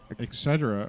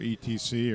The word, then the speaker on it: Lazer Etc.: travis and they're with laser uh et cetera or etc or etch so however you want to pronounce us here uh john and